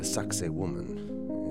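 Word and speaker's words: Sacsayhuamán: the second day I made my way to sakoman it's spelled nothing like it sounds it's the ruins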